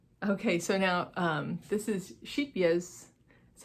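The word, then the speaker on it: Scheepjes: And then we also got, okay, so now this is Sheepyez, that's how to say it apparently, which I learned at this retreat.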